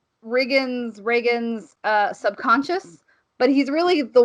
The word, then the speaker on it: Riggan: It's spelled Riggan, but everyone pronounces it Reagan, like President Reagan.